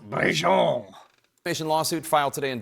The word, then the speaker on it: Brigitte: The I actually think it would be pronounced Brigitte.